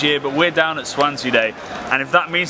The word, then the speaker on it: Zwanze: It's spelled Z W A N Z E. uh and pronounce Swansea, Swansea, Swans, wherever you're from or or however badly you read.